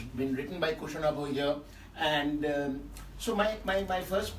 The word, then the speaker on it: Kushanava: So first, I'm very happy to say hello to Kushanava Choudhury, whose name rhymes with mine. Because my name is Arunava in Bangla.